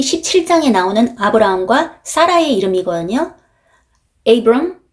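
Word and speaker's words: Abram: 에이브럼, 세라이 이렇게 발음을 합니다.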